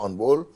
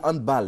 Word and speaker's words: handball: D'accord, Serge Dakouri, on a du mal à dire handball. Hein. Handball. Oui, handball. Il faut dire handball. Ouais. C'est une prononciation. C'est plutôt allemand. Allemand. Non anglophone. Non. Voilà, c'est pas anglais.